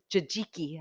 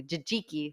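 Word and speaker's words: tzatziki: or kale chips or the jajiki I learned how to pronounce that more correctly jijiki sauce with the cucumbers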